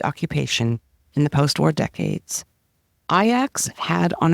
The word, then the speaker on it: Ajax: mispronouncing the team's name it is spelled but not pronounced like the popular North American household cleaner Ajax but they say ax one of the team's